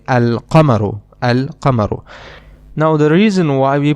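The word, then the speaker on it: القمر: And in the other noun we do pronounce the lamb. We say alamaru al kamaru.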